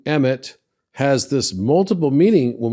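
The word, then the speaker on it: אמת: So Aleph Mem Tav is pronounced emet.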